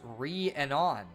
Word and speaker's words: Rhiannon: It's pronounced Rhiannon.